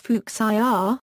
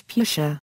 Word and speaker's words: Fuchsia: original pronunciation from the word's German origin is fuk the standard pronunciation in English is fuchia as a consequence fuchsia is often misspelled as